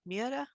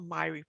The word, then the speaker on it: Myhre: pronounce this name so the norwegians pronounces mira or miuri in the uk i understand people say myra we in the united states we sp we pronounce it the way dr selma myrie pronounced it she lived in washington state so we'll call it myri there's some genetic terms